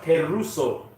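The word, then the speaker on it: κηρύσσω: That word preach in the Greek is pronounced keruso.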